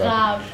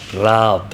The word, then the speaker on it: Raab: but- Raab. Raab. Yeah. Okay, got it. It's hard for you to not pronounce the R in the You English have to roll way.